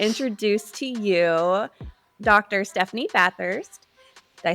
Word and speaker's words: Bathurst: Stephanie Bathurst.